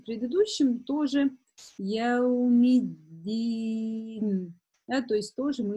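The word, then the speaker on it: يوم الدين: буквы, это буква «та», часто ошибаются, вместо «да» в удвоении еще с касрой произносят букву «та». Поэтому внимательно, чтобы такого не допустить. Это очень частая ошибка, практически, ну, 90% из начинающих произносит вместо «даль» «та». Говорят «яумить». И помимо произношения, да, что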